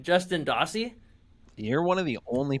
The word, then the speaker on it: Justin Dossey: So I hope I pronounced your name right. Justin Dossey?